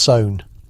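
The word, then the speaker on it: Samhain: Samine pronounced sown.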